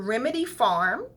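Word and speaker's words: Remedy Pharm: You want to go to Remedy Farm, and farm is spelled P-H-A-R-M, Remedy Farm, and the address is 23811 Hawthorne Boulevard, and that's in Torrance, 90505.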